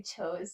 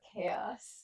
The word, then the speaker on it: chaos: wrong go for it I used to say chose instead of chaos so what toes chose